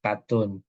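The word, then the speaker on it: KTUN: Nah, apa itu ketetapan ataupun sini saya buat adalah katun, bukan kain ya, bacanya menyebutkannya katun.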